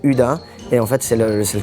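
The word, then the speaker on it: Hydda: C'est parce que ça s'écrit H-Y-D-D-A et en suédois, ça se dit Uda.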